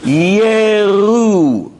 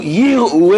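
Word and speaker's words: יִרְאוּ: Yeru. No aleph. The aleph is silent, and it doesn't start with a yi. Chirik. It starts with a shva. Yeru. As opposed to Yiru es Hashem kedoshav. That doesn't exist. There is no Yiru, because that's seeing. It's Yeru with a silent aleph.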